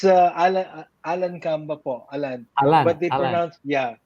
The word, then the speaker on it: Alan: It's Alan Kamba po. Alan. But they Alan, pronounce, yeah, Alan.